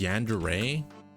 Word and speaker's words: yandere: Yandere. It's like obsessed. Yandere. Yandere. How do you spell that? It's pronounced Yandere.